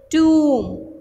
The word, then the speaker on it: tomb: B silent है इसलिए अब हम इसको पढ़ेंगे tomb. One more time. T, u, b. B is silent, we'll read it tomb.